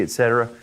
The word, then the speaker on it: y: We don't say Y, because that's really just the name of the letter, right? We just say E. It sounds like the letter I almost.